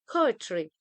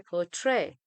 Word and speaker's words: poetry: That's why we say poetry, but we don't say poetry. Poetry, the first syllable is stressed.